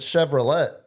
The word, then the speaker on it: Chevrolet: Well, if it wasn't Swiss, you would pronounce it Chevrolet. It's that soft T at the end.